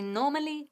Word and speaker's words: normally: El acento recae en la primera sílaba.